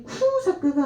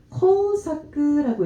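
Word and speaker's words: 工作: 근데 이게 쿠사크가 아니라 코우사크라고 읽고 있죠.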